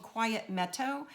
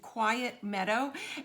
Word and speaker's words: Quiet Meadow: i'm using are called quiet meto i just pronounced that funky quiet meadow and it's a bundle